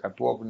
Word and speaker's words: Catuogno: Catuogno, Catuogno, se pronuncia Catuogno, no se escribe, y van a escuchar